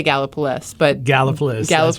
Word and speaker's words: Gallipolis: in Gallipolis Ohio and I think it's pronounced gala police not around that area Celeste how do you pronounce it done so come I say gala police but gala flu that was releases although I'm